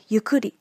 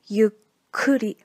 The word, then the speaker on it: ゆっくり: Same thing in this word, yukuri. Some students pronunciate this word like yukuri. But you need to always make sure to include the tu as well. The correct pronunciation will be yukuri.